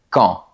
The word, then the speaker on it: quand: chose avec le mot quand. Normalement, on ne prononce pas la lettre D de ce mot. Par exemple, "Tu arrives ?" Mais devant une voyelle, on entend le son de la lettre T.